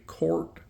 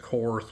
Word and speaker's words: Korth: of people pronounce that cor but it's actually a German name and it is pronounced Court so before we go